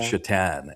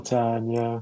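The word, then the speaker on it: Šatan: Um but they would pronounce it Chitan. Um Chhatan.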